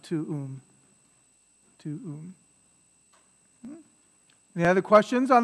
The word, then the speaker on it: tuum: But yeah, you say it quickly, it sounds like they run together, tuum. It sounds like it's just one syllable. But it's actually two, right? Tuum.